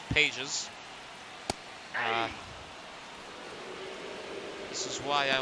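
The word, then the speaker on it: Pages: Nico her and Andy Pas was going to come on but I believe they've brought a pinch hitter Kim. I apologize if I uh earlier mispronounced Pas's name is Pais.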